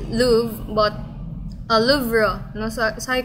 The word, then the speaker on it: Louvre: You try like to koan, but I think it's pronounced as Louvre.